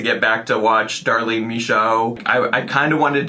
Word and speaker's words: Michaud: found, which is Darlene Misho. Her name doesn't look like it's pronounced that way.